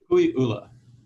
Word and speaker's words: Kukui'ula: I mean, I have to say, listening to you, your property, you pronounce it Kukui'ula, or how do you pronounce it? Kukui'ula.